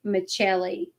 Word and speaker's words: Michelli: be Michelli, like Michelle, spelled like the woman name Michelle, like the female Michelle, but it was pronounced Michelli.